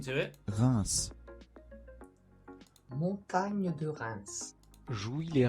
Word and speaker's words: Reims: Stade de Reims after that in the Ligue.